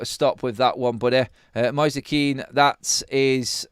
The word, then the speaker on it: Moise Kean: No, Graham, I really don't care about pronunciation, mate, so stop with that one, buddy. Moise Keane, that is how his name is said, so I don't care.